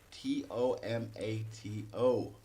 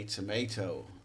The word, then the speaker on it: tomato: and this word here how do americans and british pronounce this word t-o-m-a-t-o americans say tomato british say tomato on one level it's